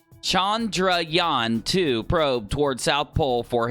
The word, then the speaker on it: Chandrayaan-2: here alright India since Chandra Yana I said it wrong chandrayaan-2 probe toward South Pole